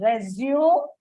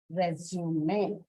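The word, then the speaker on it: résumé: And by the way, this is not pronounced as resume, but resume.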